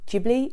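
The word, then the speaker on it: Ghibli: um and I know some people say it is jibli and I've been told it's jibli but I've been pronouncing it gibli my whole life so I'm going to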